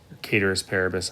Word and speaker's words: ceteris paribus: constant or in latin ceteris paribus caters paribus i'm not a latin scholar some people say that's the correct pronunciation i don't care if